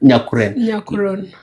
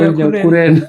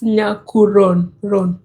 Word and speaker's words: Nyakuron: And the owners at Custom Market or Nyakuron Market, what is the right pronunciation of that market? Nyakuron. Nyakuron. But people call Dinkas it call Nyakuren. Nyakuron. It's Nyakuron.